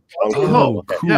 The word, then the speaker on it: Bong Joon-ho: Is it Bong Joon-ho? Is that how you say his name? I think it's his name. Bong Joon-ho. Bong Joon-ho.